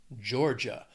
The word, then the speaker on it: Georgia: Florida next is Georgia two syllables stress on that first syllable Georgia or again if you're